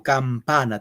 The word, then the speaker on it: campana: Campana. Tres sílabas. Campana. ¿Dónde va el acento? La mayor oferz. ¿Dónde? En la p. En la pa. Muy bien.